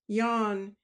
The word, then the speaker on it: Jean: Sylvester was worried because a mate called Jean which Bretton pronounce Yan did not come down